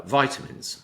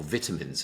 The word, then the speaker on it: vitamin: I did a a um a lay podcast all about uh vitamins or vitamins as they mispronounce it here in England, uh, vital amies.